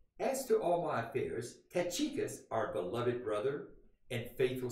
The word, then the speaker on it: Tychicus: Okay, one more, and his name is Tychicus, and that is the way you're supposed to pronounce it.